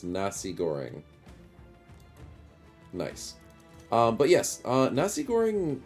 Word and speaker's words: Nasi: means fried rice though the Nazi or is it Nasi should I did I say it wrong I've always called it Nazi Goring but that might be incorrect it's Malay language Nasi oh so it's not with a zed it's with an S so it's Nasi Goring